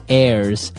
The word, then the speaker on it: heirs: pod, and to his heirs. This is our next word. What is an heir? Now, if you notice, the h is silent there. So his heirs and that th those